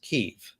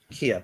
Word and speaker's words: Kyiv: on the shoulder going, the way how we pronounce it, and that's the right way to pronounce it too, since it's our place, is Kyiv and not. Oh, really? Kiev.